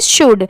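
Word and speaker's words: should: तो देखिए यहां पर ये जो लेटर एल है इस वर्ड में ये साइलेंट है। इसीलिए इसे हम क्या पढ़ेंगे? शुड। साइलेंट वर्ड्स में क्या होता है कि लिखते टाइम हम वो लेटर लिखते हैं।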